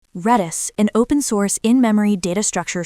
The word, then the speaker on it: Redis: Redis, an open-source in-memory data structure store that can